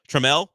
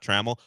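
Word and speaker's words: Trammell: Treml, I found out that's how you pronounce it. Not Traml.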